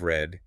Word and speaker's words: read: for the present perfect, the pronunciation changes. It sounds like the color. So, today I read is present tense. Today I have read is the participle.